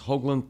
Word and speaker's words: Hoaglund: at me funny when I say this is Hoagland pronounced correctly yes all right it wasn't you know